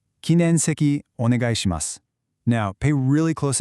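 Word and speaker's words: 禁煙席: You want to make sure you separate that N and E sound. So, it's kin en seki.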